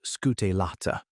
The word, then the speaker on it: scutellata: Apis mellifera scutellata, pronounced scutellata, the East African lowland honey bee, arrived at a different answer to the same question of how to stay alive.